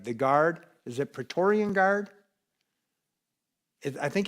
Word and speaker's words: Praetorian: not saying it right, the guard, is it Praetorian guard? I think it's Praetorian Guard, the Roman Guard.